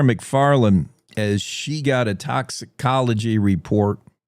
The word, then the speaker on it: toxicology: This uh story from Claire McFarland as she got a toxicology report. Toxology report.